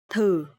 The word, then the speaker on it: thử: Okay, so here the letter TH, and you will pronounce th. And here the toe mark is dấu hỏi, so it will be thử.